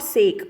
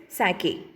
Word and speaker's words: sake: And focus the pronunciation of this word. It is not sake, okay? It is sake.